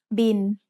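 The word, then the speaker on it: บิล: It's the word bill, but we read it in Thai as bin. Thai doesn't naturally have the L sound at the end of a syllable, so it changes to sound like the letter N.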